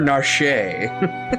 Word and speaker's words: Narshe: And now So is it Narsh or Narshe?